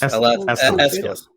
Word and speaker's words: Aeschylus: I'm going to probably say his name wrong, but the Greek playwright Aeschylus, is that how you say it? Aeschylus? There it is. Aeschylus.